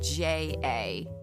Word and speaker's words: ja: So in Spanish, ha ha ha is written J-A, because the J is pronounced has the H sound.